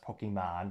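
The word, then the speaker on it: Pokémon: Is it like a collectible, like Pokemon cards? I'm kidding, I know it's pronounced Pokemon, but nevertheless, let me know in the comments.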